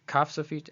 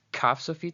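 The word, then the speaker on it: כף סופית: This is kaf sofit, so it's pronounced as k, k, k, and this is chaf sofit, pronounced as ch, ch.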